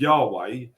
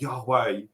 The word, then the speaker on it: Yahweh: But the word of God, which was Yahweh, is spelt in such a way that it's the only word that you can say in Hebrew where you don't close the mouth.